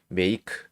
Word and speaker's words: make: 이게 만들다의 과거가 만들었다가 made가 되는 건데 어쨌든 이 발음을 하는 게 중요한 거니까 make 이거를 m 그리고 뒤에 e가 왔으니까 a가 a make 이렇게 발음을 할 수가 있어요.